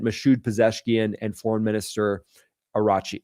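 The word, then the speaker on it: Araghchi: President Masoud Peseshkian and Foreign Minister Arachi Araki is how you say that, I guess.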